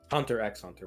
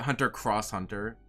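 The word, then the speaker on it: Hunter × Hunter: what I mean dog Hunter x Hunter by the way at least I didn't pronounce it Hunter cross Hunter I heard somebody say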